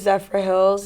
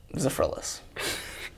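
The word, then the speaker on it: Zephyrhills: We sold that at Publix, and I was mispronouncing it all summer. What do you say it was? Zephyrless.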